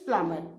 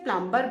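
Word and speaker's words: plumber: all these things प्लमर बी is silent we pronounce it एज प्लमर है ना बहुत लोग इसको गलती से प्लंबर बोलते हैं बट दैट्ची the correct pronunciation is प्लमर पी एल यू एम बी ई आर बी इसमें साइलेंट होता है we pronounce it एस प्लमर fine so the tools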